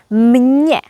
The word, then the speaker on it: mně: Although město has only one consonant, m, we pronounce it as mně. So, actually you hear m and n together. So, there are two consonants.